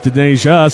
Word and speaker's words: Denasia: I got it right once, and then I kept saying it wrong. So, of course, everyone let me know it's Denasia.